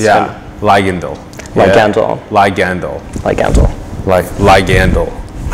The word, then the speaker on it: Ligandal: I'm gonna ask for pronunciation like 5 times this show. That's good. It's yeah. good. Ligandal.